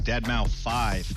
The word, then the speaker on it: deadmau5: is your good friend joel professionally known as deadmau5 yes that is the correct way to pronounce it we're here finally the truth can